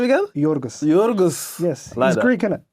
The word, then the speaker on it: Yorgos: name Yus lamos say the first name again yorgos Yus yes he's Greek it okay cool yeah